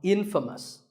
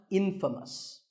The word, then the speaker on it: infamous: you might just become infamous this word is the opposite of famous and it means famous for something bad but it's not pronounced Infamous it's pronounced infamous all right I hope